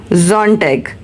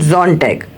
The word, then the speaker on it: Sonntag: If S in the start, so it sound like Z. For example, if we say Saturday, so it's a Samstag, and if we call Sunday, it's a Sonntag.